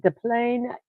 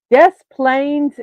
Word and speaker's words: Des Plaines: first McDonald's restaurant in Des Plaines, Illinois. Or if some people are pronouncing it phonetically, Des Plaines, Illinois, which is not correct.